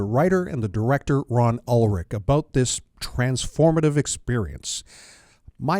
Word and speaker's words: Ulrich: Is it Ulrich or Ulrich? Ulrich. You were right the first time. Well, it's my grandfather pronounced it Ulrich because he was from Germany, and my family always pronounced it Ulrich ever since.